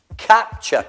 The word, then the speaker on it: capture: Capture, catturare, capture, ture, ch. Capture.